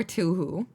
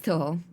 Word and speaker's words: Touhou: I love saying Tuhu, by the way. It doesn't hit the same as when you like, you know, and like spell it out. I know it's a Toho project though. It's Toho.